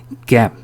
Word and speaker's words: gap: A 다음에 자음이 단독으로 나왔기 때문에 gap 애 발음을 해 주시는 겁니다.